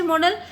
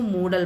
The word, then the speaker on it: modal: ठीक है बच्चों, एक तो MODAL, ये आप इसको मॉडल पढ़ा करो। कई बच्चे इसको मोडाल पढ़ते हैं, वो रॉन्ग प्रोनाउंसिएशन है, इसका सही प्रोनाउंसिएशन मॉडल ही है।